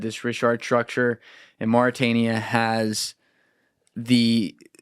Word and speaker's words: Richat: Yeah, I hear this pronounced a couple different ways. Richat.